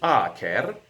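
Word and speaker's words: acer: Latin in various ways the primary way is our care okay with a long a stomach our care meaning hot and biting like the fiery strong burn of mustard or strong garlic or strong onions ah Cara notice that I came with a short a is a maple tree this is one of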